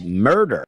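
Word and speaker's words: Merder: His last name was Murder. M E R D E R but pronounced murder.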